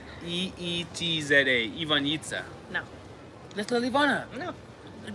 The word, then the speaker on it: Ivanjica: want to name her Ivanjica? No way. But you gotta spell it in English terms. You gotta put Ivanyeetza. Ivanjica.